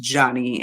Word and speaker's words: Joni: look it up um it's spelled like Joni j-o-n-i but um they were letting us know that it was pronounced Johnny and um you know